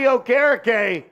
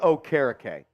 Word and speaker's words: Okereke: Tackled in the backfield by Bobby Okereke.